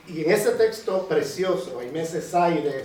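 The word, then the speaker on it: Césaire: Y y en ese texto precioso, Aimese Saire se escribe, se pronuncia con Creire S a I, no i r.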